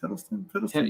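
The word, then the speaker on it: Hiddleston: Piddleston.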